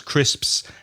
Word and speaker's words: crisps: crisps and Papa's because crisps has the s the P and the S and it's a bit